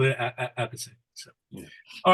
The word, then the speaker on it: Appice: So he told me, Carmine told me himself that he changed it to a piece because nobody could pronounce it the way it's supposed to be pronounced. So he's like, screw it up, just a piece.